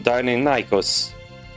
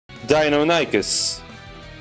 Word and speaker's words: Deinonychus: The raptors you see in Jurassic Park were actually more so based on Deinonychus. Wow, I pronounced that badly. Let me try again. Deinonychus, which was a bit larger.